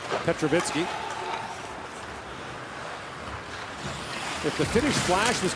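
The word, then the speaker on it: Petrovický: His dad was Petrovicky in the NHL, but the correct Slovak pronunciation is Petrovitsky.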